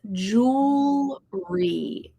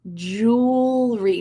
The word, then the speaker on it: jewelry: Oh, ya says jewelry. Jewelry. Now, jewelry has a tricky two sounds that are tricky in the middle of this word. The E after the W, you don't say it.